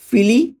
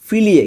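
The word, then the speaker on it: figli: আপনার কি কোনো সন্তান আছে, এটার ইতালিয়ান কি হবে, লেই আ ফিলি। লেই আ ফিলি, দেখুন এখানে বাংলা উচ্চারণটা দেওয়া আছে লেই আ ফিলিয়ে, কিন্তু এটা ফিলি হবে, আমার একটু মিস্টেক হয়েছে।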